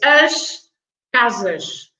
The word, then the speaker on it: as casas: Okay, it can be quicker, but it's as casas. So the S at the end is pronounced as sh.